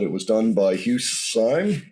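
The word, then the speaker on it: Syme: was done by Hughes sign I think his name is pronounced s-y-m-e is the same artist that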